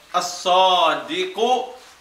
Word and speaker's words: as-sadiqu: So therefore, as-sadiqu, the lam is written, but the lam is not pronounced. Why? Because it is sun letter.